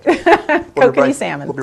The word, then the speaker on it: Kokanee: Kokanee salmon.